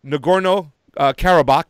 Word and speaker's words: Nagorno-Karabakh: martial law and the disputed territory of uh nagorno-karabakh did i say it right yes after a